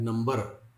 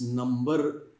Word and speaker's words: number: हैं, पढ़े होता है नंबर, तो इट्स नंबर आर is silent, नंबर, okay, नंबर, figure, solution, verdict, okay, amount, ऐसे।